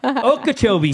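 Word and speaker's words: Okeechobee: I didn't I know okobe took me years to figure out how to say it okobe is it a lake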